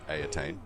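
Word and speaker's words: Eataine: which the current Phoenix King comes a attain pronounced a attain you know something pressing greatly is considered first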